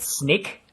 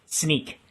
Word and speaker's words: Snyk: have the internal debate how you pronounce it and um my dear friend and manager simon maple pronounces it snake however our rc and we have still have debates about it but our ceo and founders they say uh it's sneak and well people still